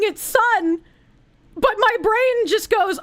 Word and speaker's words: Son: the word sun and instead of pronouncing it sun like I should I pronounce it soon and why do I